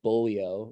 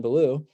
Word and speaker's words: Ballou: dr john uh blew it looks like it's spelled bullio like in the french but it's john ballou i learned uh that